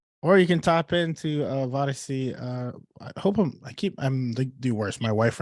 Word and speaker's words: Vodyssey: Or you can tap into Vodyssey. I'm the worst. My wife right now would be, Ruben, that's not how you say it. That is how you say it. Vodyssey. You got it.